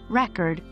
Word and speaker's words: record: its meaning for example the noun record with stress on the first syllable means a physical disk while when stressed on the second syllable it becomes a verb meaning to document or capture English is a